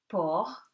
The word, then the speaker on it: porc: And C is silent at the end of the word in these words. For example, you have these examples: tabac, tobacco, porc, the pig, estomac, stomach, franc, sincere, blanc, white.